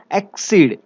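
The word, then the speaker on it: accede: Okay, सो याद रखेगा एक्सीड, एक्सीड, this is the pronunciation.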